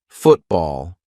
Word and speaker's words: football: for the glottal T when a syllable ends in t and it is followed by a consonant sound we're going to use the glottal stop for example football I'm not saying Football let's play football now I'm saying football okay now some people